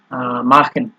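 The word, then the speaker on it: machen: also এরপরে হচ্ছে আপনার মাখেন ঠিক আছে মাখেনের ক্ষেত্রেও আপনার এই যে এখানে সিইচ এর আগে এ আছে এর জন্য এটা খ এর মত উচ্চারণ হইছে এরপরে বাউ মার্কেন মানে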